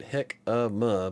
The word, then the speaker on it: jicama: Yeah, see, I got baked himaka fries. I'm gonna try it, I think. Okay, Sam. Chris says, Sam, took me a sec. We pronounce it hick-a-ma, but yeah.